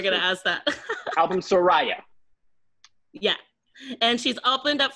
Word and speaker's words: Surrija: Surrija is Surrija. It's Surrija. See, I said it right. It's Surrija. Oh, Surrija. Surrija. Surrija. Surrija. Drag the A at the end.